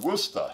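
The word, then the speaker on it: Worcester: the west of boston called woosta right this way back to the shire i wonder if there are people who say it it would say every syllable i mean we're chester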